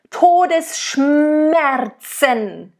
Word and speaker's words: Todesschmerzen: It's literally, you want to make sure that S and the sh, it's very harsh. Todesschmerzen.